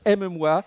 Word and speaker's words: Matière Molle aux Interfaces: of my team is Matière Molle aux Interfaces, which pronounced in French, aime-moi, and that means love me.